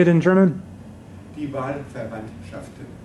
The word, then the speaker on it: Die Wahlverwandtschaften: Die Wahlverwandtschaften. Die Wahlverwandtschaften.